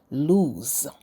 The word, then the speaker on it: lose: are lose and loose lose is pronounced as if it had two o's ending with a z sound lose it is a verb